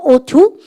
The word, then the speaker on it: ought to: 발음가 ought to.